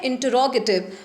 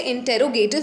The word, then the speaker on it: interrogative: दूसरा होता है इंटरोगेटिव, आप लोग इसे इंटेरोगेटिव भी बोलते हैं, लेकिन जो इसका करेक्ट प्रोनाउंसिएशन होता है बच्चों, वो होता है इंटरोगेटिव।